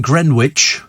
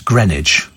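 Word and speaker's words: Greenwich: American coming over here is that pronounced green witch how how do you do that it's grenage you get grenage doesn't look like grenage at all uh have you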